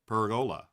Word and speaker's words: pergola: I think the stress is on the E. Sir Per P perola." Peragola.